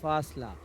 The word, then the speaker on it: فاصلہ: فاصلہ، تو فا کا تلفظ بالکل فاصلہ. اسموتھ ہے، ٹھیک ہے. پھا نہیں ہونا چاہیے، جیسے پھل، اسی طریقے سے ٹھیک.